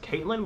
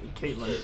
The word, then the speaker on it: Catelyn: Her name's like spelt weird. It's like, so I pronounce it I think it's pronounced Caitlin, but it's spelled Catelyn.